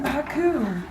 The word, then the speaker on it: haiku: says living tnder Haku I mean Haku is correct that pronunciation thing I'll get you so from what I understand some of you guys had ha coup before because two weeks ago